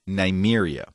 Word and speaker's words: Nymeria: is her name is Nymeria rhymes with Siberia nice you are